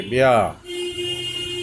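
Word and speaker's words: bare: বি এ আর ই এটার pronunciation will বি deer অর্থাৎ আটটা অনুচ্চারিত থাকবে আপনারা যদি ব্রিটিশ আমেরিকান প্রোনাউন্সিয়েশন চান তাহলে আটটা অনুচ্চারিত থাকবে বেয়া অর্থাৎ উলঙ্গ করা বা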